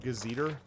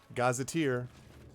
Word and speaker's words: gazetteer: I remember once on a panel pronouncing the word gazetteer, pronouncing it gazeter, because I had never seen it. Like, I never actually heard the word. I'd only seen it.